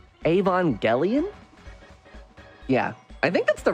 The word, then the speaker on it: Evangelion: Yeah, you say soft G. Yeah, right? Like Evangelion?